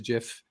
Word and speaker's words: GIF: Because there are words that begin with G, like giraffe and so on. It doesn't have to be a hard G. The inventor of the format says it's a GIF.